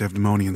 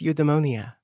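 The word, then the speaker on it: Eudaimonia: forget how healing this abdemonian sunlight is it's you the money and papa it's eudemonia of course old habits die hard you're always pronouncing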